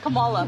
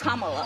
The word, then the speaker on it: Kamala: to say her name earlier you said Kamala the way she pronounces her name is Kamala you don't work with